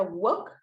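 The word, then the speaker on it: walk: López adelante se pronuncia Wok muy bien verdad Entonces como ustedes ya lo practicaron decía ahí verdad que no vamos a pronunciar la l no sé si ya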